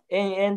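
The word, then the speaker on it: 炎炎: 炎って書いて延々って読むんですけ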